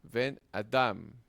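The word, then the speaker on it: בֶּן־אָדָם: significando hijo de hombre, pero el acento se traslada a la palabra Adam, ¿verdad? Ben Adam, Ben Adam, resultando en una sílaba cerrada, atona para la primera palabra.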